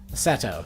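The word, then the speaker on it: Setou: good mornings at AO Seto yeah Seto probably Seto Ryan I have to remember that it's an O sound it's not a it's not pronounced in the English way Seto so his actual name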